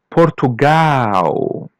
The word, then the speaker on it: Portugal: As you see the L is pronounced as W. Portugal.